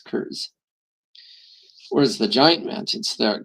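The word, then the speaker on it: Kurs: And so those ones would be, somebody explained to me, are actually called the curs. So it's spelled it's spelled K-U-R-S, curs.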